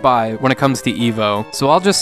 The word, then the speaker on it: E.V.O.: EVO, as I'm going to insist on calling it, even though it's spelled as an acronym in the game, is similar to the